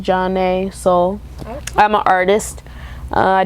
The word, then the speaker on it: Jon'Nea: I'm Jon'Nea, pronounced Jon'Nea.